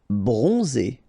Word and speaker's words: bronzé: Bronzé, so O-N, on, and then Z, it's really pronounced like Z. Bronzé, bronzé.